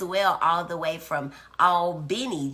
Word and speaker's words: Albany: all the way from Al Benny Georgia that's Albany for people who've not been to Georgia it spelled the same as uh the place in New York but it's all Benny when you're talking about Georgia thank you for bringing